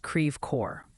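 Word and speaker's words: Creve Coeur: That one's pronounced creor. Like cre core.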